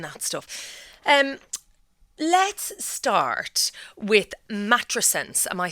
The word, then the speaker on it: matrescence: So it's matrescence.